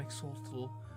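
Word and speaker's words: Xolotl: How do you even pronounce it? X-O-L-O-T-L. Exaltal? The Great Death. This is the Death Tower. Teotion, I am Exaltal, the Great Death, and I wait here in accordance with the prophecy.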